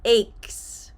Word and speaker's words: ache: I tell my students think of the word cake the final part cake that is the correct pronunciation so stomach ache headache